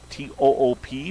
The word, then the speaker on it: Toop: T-O-O-P, but the young man pronounces it Toop.